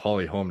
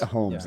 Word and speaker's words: Holly Holm: We're talking about Holly Holm now, right? Yeah, I think it's Holmes, ES. It's not. It's not? No, you've been pronouncing it that way for years.